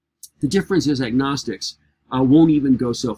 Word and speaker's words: agnostic: agnostic first of all when you put the a in front of it the G finally gets pronounced it's not silent as in gnosis or narcissism but when I say agnostic I'm saying without knowledge